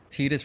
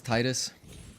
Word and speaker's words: Tidus: Fantasy X on stream, we were discussing Tidus versus Titus. I like Titus. I'm one of those guys. I'm just gonna say Titus. I'm gonna say Titus because that's how I heard it pronounced in Kingdom Hearts, and I was like,